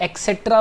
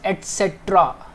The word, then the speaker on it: etcetera: अब देखिए, कई जाने इसे एक्सेट्रा बोलते हैं, इट्स एटसेट्रा, राइट।